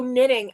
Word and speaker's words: knitting: Oh, knitting. Oh, knitting hurt your ears. I'm sorry, Miguel. See, when you said K, I'm like, CK, what did I say? I forgot. The K is silent.